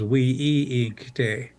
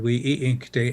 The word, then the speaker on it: winkte: A linguistic family on my reservation of Rosebud said that wasn't the original pronunciation of the word. The original word was we-i-inkte, a multisyllable word, we-i-inkte, and it referred to,